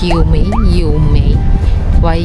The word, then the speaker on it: 月眉: Actually, ang hirap niya kasi i-pronounce Yemei. Hindi naman siya YU kasi YUE. Yemei. Basta ganun.